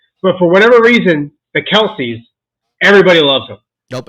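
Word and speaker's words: Kelce: I cheer for but for whatever reason the Kelsey everybody loves them nope it's don't matter what team they're on it's pronounced Kel guys it came out this past week Kel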